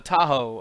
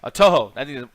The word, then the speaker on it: Touhou: to entertain all the tahoe uh godzilla fans or whatever i think i've said that name wrong touhou that's the name um but yeah they